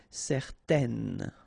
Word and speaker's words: certaine: Okay, if you add this at the end, then it will change the thing, and then you will pronounce it n. Okay, so the masculine form, certain, the feminine form, certaine.